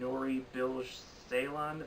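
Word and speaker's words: Nuri Bilge Ceylan: can Film Festival contender and the director and nori bilge Ceylan that's how you say his name he won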